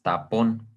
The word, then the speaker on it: tapón: Tenemos esta palabra que es tapón. Obviamente es una palabra aguda.